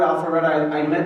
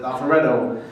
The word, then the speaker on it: Alpharetta: The first time I heard the word Alpharetta, I pronounced it the way Rabbi Jacobson pronounced it, Alpharetto.